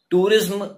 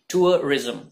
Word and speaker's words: tourism: Okay, तो सही pronunciation use कीजिए, टूरिज्म नहीं, टूरिज्म।